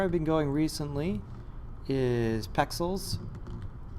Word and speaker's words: Pexels: So where I've been going recently is Pexels. I'm not saying it wrong. It's not spelled like pixels, P-E-X, yeah, Pexels.